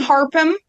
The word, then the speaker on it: Harpham: I'll start with Harpham.